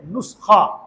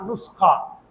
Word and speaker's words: नुस्खा: असल में है नुस्खा। आप भी बोल के बताएं एक बार। नुस्खा। हां। नून के बाद सीन आएगा। फिर ख आएगा। नुस्खा। ठीक है ना? और अगर आप इसको स्पेलिंग के साथ लिखेंगे तो एन यू एस के एच ए नुस्खा। तो इसको याद रखिएगा क्योंकि मैंने खुद हमारी इसी सोसाइटी में कई लोगों से सुना है। एक नुक्खा मिला है यार।